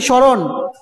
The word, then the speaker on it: স্মরণ: তারপর লেখো 4 নাম্বার, শব্দের শুরুতে মফলা থাকলে ময়ের উচ্চারণ হয় না, অর্থাৎ স্মরণ। এরকম ভাবে উদাহরণ দিতে হবে তোমাকে, স্মরণ।